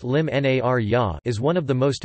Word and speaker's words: l-Imnarja: Narja, or El Imnarja, pronounced Lim Narja, is one of the most important dates on the Maltese cultural calendar.